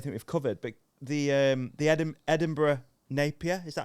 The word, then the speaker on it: Edinburgh Napier: I don't think we've covered, but the Edinburgh Napier, is that how you say it?